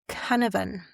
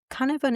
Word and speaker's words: cynefin: The other Welsh word that I want to look at is Cynefin.